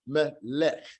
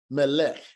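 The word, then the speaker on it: מלך: We have lamed sagal, melech, melech, melech. It made a closed syllable because this shiwa is not going to be pronounced. We have the final form kaf at the end with the shiwa, melech, melech.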